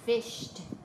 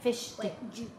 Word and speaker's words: fished: that in that s in that word fished it just sounds like a instead of like Ed cuz fish that doesn't that sounds wrong right I fish yesterday but you could say I fished yesterday this one we're